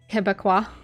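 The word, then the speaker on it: Québécois: Yeah, Pronounced Quebecois. Quebecois.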